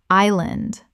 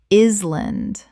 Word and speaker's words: island: sword sword Word 182: island Common mispronunciation: is-land Correct pronunciation: island The S is completely silent. Two syllables.